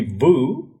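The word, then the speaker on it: Vue: word so oh yes the technically correct pronunciation would be Vu but I just decided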